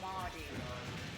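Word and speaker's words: mardy: is you're acting real mauy. It means like it's spelled M A R D Y. It looks like Marty, but it means like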